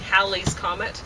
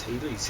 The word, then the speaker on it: Halley's Comet: Comet which oh yeah he was calling Hal's Comet which I don't think anybody calls it that but I think it's haly's even though it's spelled Hal yeah so anyway uh whatever